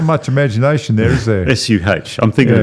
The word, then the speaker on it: Suh: Suh. Not much imagination there, is there? S-U-H.